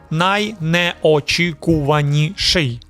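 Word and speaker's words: найнеочікуваніший: The correct way, naineochikuvaniishyi. Naineochikuvaniishyi. This word is a monster, demogorgon. 7 syllables, multiple consonant clusters, soft sounds everywhere.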